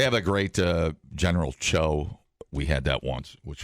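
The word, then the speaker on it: Tso: rather General s such a dick they say cho yeah oh General Cho well he was like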